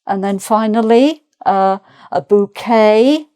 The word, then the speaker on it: bouquet: And then finally uh a bouquet again without the t sound.